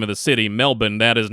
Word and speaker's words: Melbourne: when I say the name of the city Melbourne that is not me and American trying to